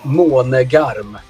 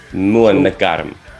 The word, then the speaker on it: Månegarm: As a non-Swedish person myself, is MÅNEGARM close to what it should be, or what's the right way of pronouncing? Yeah, pretty close, I would say. The right way to say it is MÅNEGARM. MÅNEGARM.